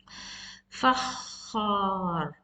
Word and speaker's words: فخار: فخار. فخار. So you need to make your sound heavy.